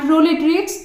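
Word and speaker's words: proletariat: Conflict exist करती है between बॉर्जुआजी एंड प्रोलेटेरिएट। तो इन दोनों वर्ड्स को कुछ इस तरीके से ही प्रोनाउंस किया जाता है।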